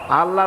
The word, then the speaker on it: আল্লাহ: আল্লাহ না, কিন্তু মুখটা গোল করে উচ্চারণ করতে হবে সুন্দর করে, আল্লাহ।